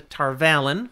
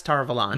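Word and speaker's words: Tar Valon: they can get to Tarvalin. Yeah. Or perhaps Tarvalon. Nope, you said it right the first time.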